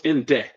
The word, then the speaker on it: Indeh: kill you to say Inda I don't know if that's the correct pronunciation so there'd be Inda which means the living and IND is the dead not IND so it's in day yeah okay fine grammar